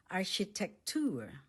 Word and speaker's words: Architektur: architecture Architektur Architektur Let's say it syllable by syllable. The stress is on the last syllable. Architektur My brother is taking up architecture in the university.